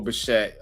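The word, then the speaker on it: Bichette: Pronounced E is it's a silent E. It's okay. Bo Bashette.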